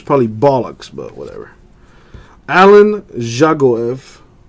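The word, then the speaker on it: Dzagoev: bollocks but whatever Alan juggle EV the D is silent for Russia for Mother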